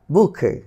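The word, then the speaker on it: bouquet: তাহলে এটির উচ্চারণ কীভাবে হয়? ব্যালে, ব্যালে, ব্যালে, ভ্যালে, ভ্যালে, ভ্যালে। বুকে, বুকে, বুকে।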